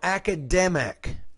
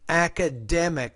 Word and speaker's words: academic: GPA Co academic analytic now academic academic the stress is on that third syllable not the second Co diversity fortify Cardiology